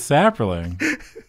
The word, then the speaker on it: Saprolling: Yeah, it's Sapperling.